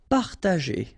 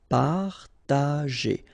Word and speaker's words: partager: Partager. Okay, parta, and then here G and E after. Well, R in that case, it's the sound E, so you pronounce it J. G. Okay, partager.